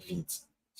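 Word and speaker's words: Vite: so um so V French word for quick fast Qui quick quick like vit a pronunciation don't call it vit it's vit I've seen people call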